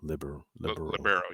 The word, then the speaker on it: libero: the I don't know how you pronounce it. Libero. Libero.